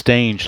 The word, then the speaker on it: Stange: Bill man boket and I wasn't sure how to pronounce stange I don't know if it was stange or stangy or Stang or whatever but I I somebody told me it was stange like rhyming with strange so that's what I